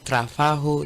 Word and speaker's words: trabajo: So as we saw the other time, in trabajo there is a J, but we pronounce the J as an H. Yes. So trabajo. That's right. The G. Yeah, J. So whenever you see in Spanish, you read in Spanish and you see J, is pronounced as H in English.